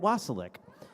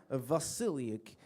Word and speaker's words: Vasiliuk: Next week we have featured artist Annette Wasilic. And I'm sorry, Annette Vasiliuk. She told me how to. She told me how to pronounce it.